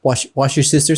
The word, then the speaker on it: Worcestershire: watch your sister's house wash your sister sauce yeah yeah that's how you say it watch your sister